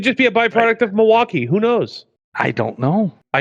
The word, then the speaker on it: Milwaukee: Other than apparently it's pronounced Milwaukee.